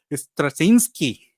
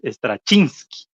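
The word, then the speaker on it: Straczynski: lista de cómo pronunciarlos stasinski Creo que creo que es lo pronuncian stasinski pero creo que aprendimos que es estra chinski Ándele Ándele mi no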